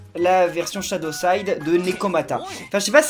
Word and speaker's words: Nekomata: Nekomata. Ça s'écrit comme ça se prononce. Hein. Sans double lettre, ni rien du tout.